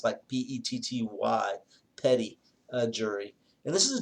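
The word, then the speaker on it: petit: probably were most familiar with is called a petty jury it's spell ptit but it's pronounced by PE tty petty jury and this is a jury of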